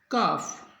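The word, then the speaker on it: calf: Palm, काम, काफ, talk, could, would. तो याद रखना है एल के बाद एम आई, एफ आई, के आई और डी आई, तो एल होगा साइलेंट।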